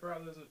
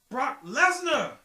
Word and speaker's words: Brock Lesnar: We have this monster of genetics, Brock Lesnar. No, you didn't say that. I didn't say it right. It's Brock Lesnar.